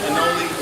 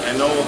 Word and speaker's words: anole: The green anole lizard, or anola lizard, two different pronunciations.